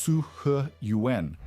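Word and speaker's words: 四合院: The Roman atrium house, the Persian san, the Chinese siheiwan, pronounced su he yuan, the Indian haveli, and the Andalusian patio home all use the same fundamental structure.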